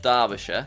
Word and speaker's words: Derbyshire: Derbyshire, which I think is pronounced Derbyshire.